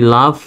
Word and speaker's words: laugh: আর এই LAUGH, এখানেও GH এর উচ্চারণ ফর মতো, এই লাভ, এটা উচ্চারণটা হবে লাভ, উচ্চারণটা হবে লাভ।